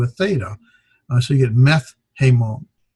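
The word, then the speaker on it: μεθ’ ἡμῶν: So you get, instead of meta hemon, it's meth hemon. The tau changes to a theta, as well as that alpha drops.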